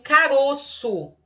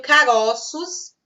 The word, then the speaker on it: caroço: por exemplo eu tenho caroço no singular são fechado timbre fechado e eu tenho caroços no plural eu tenho corvo e